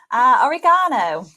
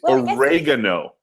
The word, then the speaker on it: oregano: Oregano. That's insane. That sounds like origami, like the Japanese art thing, origami. It's oregano.